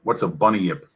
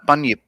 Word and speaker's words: bunyip: What's a bunny yip? A bunyip. Bunyip. Well, I'm pronouncing it probably wrong, but you look into Yeah, it. no, bunyip.